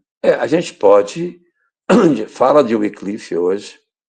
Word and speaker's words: Wycliffe: Algumas pessoas colocam Wycliffe. Eu fui procurar qual era a pronúncia correta, mas é o Wycliffe, porque é um W e um Y.